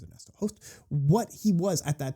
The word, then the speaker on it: Ernesto Hoost: So Ernesto Hoost, or Ernesto Hoost as most people in English would refer him, his actual pronunciation is Ernesto Hoost.